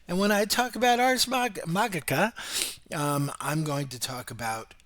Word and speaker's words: Ars Magica: get my head around more classical Latin and pronouncing these things. It's Ars Magica and it's Magi, and secondly, because like I have such a headcanon when it comes to World of Darkness.